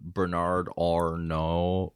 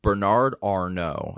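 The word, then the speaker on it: Arnault: do you know who Bernard Orno Bernard Arno I believe it's how you say his name no he's the head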